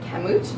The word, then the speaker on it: Kamut: like puffed rice cereal I had look up how to say this but I didn't want to say it wrong and offend anybody so it's camut it's completely unflavored it's